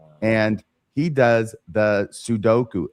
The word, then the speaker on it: sudoku: d o k u which in Japan cuz I know cuz I went there sudoku right he can never say it right to save his soul that sounds right that sounds right and every time he says it I always says or